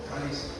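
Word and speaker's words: χάρις: Caris. Caris, acá está, ¿no? Se escribe charis, pero la H no se pronuncia, es caris, ¿no?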